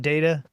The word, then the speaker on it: DAITA: or I don't know how do you pronounce the acronym? It's DAITA. I would call it data.